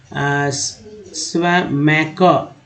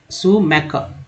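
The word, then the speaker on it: Schumacher: तो SCH जो है इसमें इसको सुमैकर ऐसे पढ़ेंगे, ईयर को बोलते हैं। सुमैकर इन हिज बुक स्मॉल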